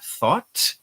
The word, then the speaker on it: thought: The correct way to pronounce them is thought and through. So you have to be very careful to make a TH sound in the beginning, th, and then a hard T at the end.